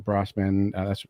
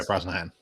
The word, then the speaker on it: Brosnahan: For me, Lois Lane, Rachel Brosnahan. That's how you pronounce her name, right? Rachel. Yeah, Brosnahan.